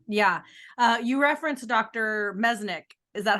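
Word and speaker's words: Merzenich: to us yeah yeah uh you referenced Dr meznick is that how you pronounce it mercenic mercenic you you reference um Dr mirzanick many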